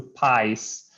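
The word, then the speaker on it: PXiSE: i s e but it's it's uh it's pronounced the pies and uh it's um it's a company uh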